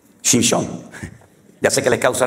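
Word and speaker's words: שמשון: Porque Sansón en hebreo es Shimshon. Shimshon. Ya sé que les causa risa, pero es que estoy pronunciando la palabra sol.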